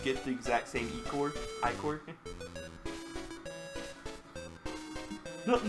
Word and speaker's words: ichor: That's pronounced I-core. Choose your I-core wisely.